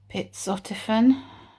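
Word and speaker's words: pizotifen: to prescribe me something called i think it's pronounced pizzotifen it's for migraines he checked it against all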